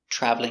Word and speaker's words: traveling: family is more common traveling or traveling traveling is more common thank you for watching